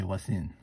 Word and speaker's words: Voisin: way that pronounced in french is the v is silent and you say what's in so I stand brothers okay I also want